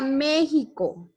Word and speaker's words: México: En este caso, esta letra, esta consonante, se puede pronunciar de esta forma, como está ahí, sonando como una J.